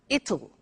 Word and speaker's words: it'll: it will be cold you notice how it will be comes it'll it'll strange pronunciation yes